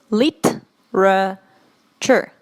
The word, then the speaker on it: literature: to this word because the pronunciation of this word is very different from what we write it like literature lit sure literature literature it's not literature today it's literature literature for example I can